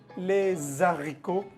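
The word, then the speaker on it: les haricots: Normalmente uno no tendría la costumbre de hacer la lzón entre la palabra les y la palabra ricot porque comienza por h. Lesico. Lesico. Ahí no se hace liesón.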